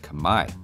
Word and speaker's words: Khmer: the Khmer's own spelling, without realizing the final R that they wrote was meant to be silent. The mistake has since just caught on, and while I think I'll keep calling them Khmer to avoid confusion for